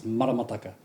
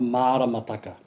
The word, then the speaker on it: maramataka: It's maramataka not maraka.